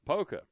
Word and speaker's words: Poca: There's a school in West Virginia named POCA, which you would pronounce it. POCA? Yeah. Polka.